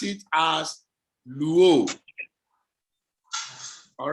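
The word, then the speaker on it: λύω: You pronounce it as luo. All right? Yes, sir. Lambda is pronounced L, upsilon is pronounced U, omega is pronounced O, and together it becomes luo.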